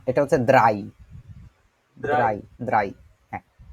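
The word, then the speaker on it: drei: phone না এটা হচ্ছে দ্রাই দ্রাই দ্রাই হ্যাঁ ইংরেজিতে একটা কথা বলে না ওই যে শুকনাকে বলে ড্রাই ওইটার মত ড না হয়ে ওইটা দ দ্রাই দ্রাই দ্রাই দ্রাই তারপরে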